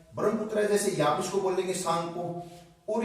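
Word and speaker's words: Tsangpo: सांगपो की जो स्पेलिंग है ना, इसमें ये टी साइलेंट है दोस्तों, तो इसमें क्या होगा, ये सांगपो।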